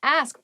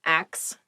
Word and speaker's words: ask: next word is ask ask please pronounce this correctly it is not axe many native speakers make this pronunciation mistake and it really bothers me ask ask me about